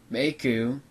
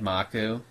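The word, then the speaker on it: Mikau: Coast you know fave meu I always said maku but then I heard meu pronounced so I'm going to say meu you know I I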